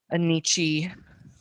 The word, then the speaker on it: Nietzsche: In high school, I said Nietzsche, and like now I feel like anything else is wrong, but I know that that's wrong. Nietzsche, Nietzsche. Nietzsche is how I say it.